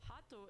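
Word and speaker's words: ハート: To put this in context, Hato is the Japanese pronunciation of the English word heart.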